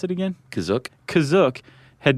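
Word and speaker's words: Kashyyyk: Planet CA is that how you say it kazook that's how it's pronounced in the episod the holiday special but it's also pronounced different ways other times I would have pronounced it Cash go spell it k a s h y y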